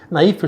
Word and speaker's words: naïf: Colocando o trema em cima do I, eu obrigo a pronunciar o I, e nesse caso a palavra naïf eu também pronuncio o F final.